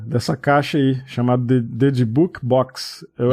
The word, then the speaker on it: Dybbuk: caixa aí chamado de deadbook eu a pronúncia em inglês é daebook e lá nesse site